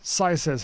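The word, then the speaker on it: CYZEZ: C Y Z E Z pronounced Scies as in Simon says. Yes, you've said this before. My bad. Uh, hey, accurate. Sci says here, this is another beat made on the MPC1 called Wrong direction.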